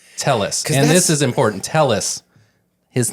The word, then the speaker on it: Telles: did have Robert Tellis and this is important Tellis his name was Tellis that's how he'd say